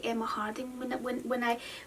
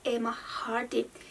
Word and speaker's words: Emma Hardie: Like, I think I always say Emma Hardie when I see this brand, but it's actually Emma Hardie. Yeah, like, I always get the name wrong.